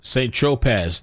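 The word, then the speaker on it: Saint-Tropez: Tropez, pronounced St. I thought it was Tropez. St. Tropez.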